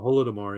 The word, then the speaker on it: Holodomor: Is that how you pronounce Holodomor, that? yeah. Holodomor, yeah.